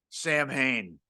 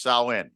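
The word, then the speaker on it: Samhain: every time Donald Pleasants calls it Sam Hayne I had a long-standing argument with my brother he said that's got to be right no it is not is pronounced sain right yes thank you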